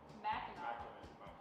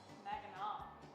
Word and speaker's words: Mackinac: Mackinac. Mackinac. That's how it's pronounced.